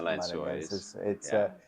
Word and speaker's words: Lençóis: You can pronounce it. The Lençóis. The Lençóis.